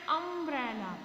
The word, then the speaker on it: umbrella: Here is also you, but the sound is coming a sound. Umbrella, a vowel sound is this.